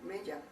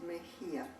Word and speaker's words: Mejia: It's a very difficult name to pronounce here in the United States, and people say Mejia, but it's Mejia.